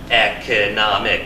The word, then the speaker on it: economic: Economic. We have 4 syllables. Where do we put the stress? Economic. 3rd syllable, okay?